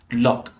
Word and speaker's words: loch: it's one of the the nine ways of pronouncing the ou g h is loch lok this is a very specific word it basically